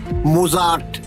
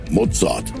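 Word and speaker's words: Mozart: হাইডন, মজাদ, বেটফেন। এই হল আসল উচ্চারণ।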